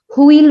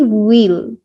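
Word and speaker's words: wheel: একটু ভুল করে থাকি, হুইল বলি। ইভেন বাংলায় যখন লিখি তখন হুইল লেখা থাকে, ইটস অ্যাকচুয়ালি হুইল। হ না, ও এর মতো উচ্চারণ হবে, WH যখন থাকে এইচটা সাইলেন্ট হয়ে যায়।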